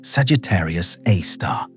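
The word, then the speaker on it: Sagittarius A*: A source named Sagittarius a star pronounced Sagittarius A star and it is a super massive black hole.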